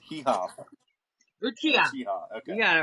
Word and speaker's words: Uchiha: Yeah, I have no idea how to pronounce. Yeah, Itachi it's Uchiha. Hee-Haw. Uchiha.